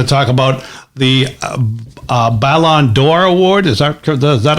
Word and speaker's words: Ballon d'Or: we're also going to talk about the uh ballon d'or award is that that how you pronounce it or yeah ballon d'or i'm going to say we talk a little